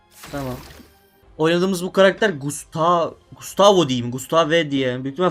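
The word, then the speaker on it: Gustave: Gustav Gustav diye telaffuz ediliyormuş. Gustavo diye değil.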